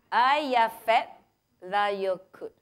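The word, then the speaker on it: Eyjafjallajökull: Once again, how to pronounce this volcano? Ayafet Layokut. Okay, it is something that you learn and you go home.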